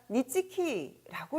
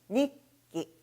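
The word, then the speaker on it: 日記: 자, 여기에선 니치고 치, 기자는 키라고 읽으니까 니치키라고 읽으시면 안 되겠습니다. 역시 무엇으로 바뀌고 있나요? 초금입니다. 초금으로 바뀌어서 발음은 니끼, 니끼라고 읽어주셔야지 되겠습니다.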